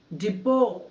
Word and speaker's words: depot: ఇక్కడ స్పెల్లింగ్ చూడండి, DEPOT. డిపో, tea silent అండి.